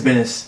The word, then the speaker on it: Benes: Ed Beans? Ed Beans. Yeah, Ed Beans is doing Benes. it. Yeah. Or Benes. I think it's Benes. Ed Benes is doing it. Sorry I pronounced it wrong.